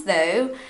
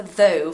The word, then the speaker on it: though: just say no thanks though thanks though thanks though so the pronunciation for though for brazilians it's a strange sound because we don't have this sound we don't have it